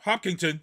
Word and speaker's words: Hopkinton: cousin in boston and is it pronounced hopkinton is that how you pronounce it yep hopkinton yep that's the starting line